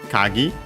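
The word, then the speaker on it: 鍵: Then we have the term kagi, key, but technically also lock. Kagi, accent on the last syllable, last more. So on the gi, kagi.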